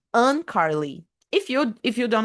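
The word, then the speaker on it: Uncarley: Un Carly. Look, it's spelled U N C A R L E Y. Un Carly.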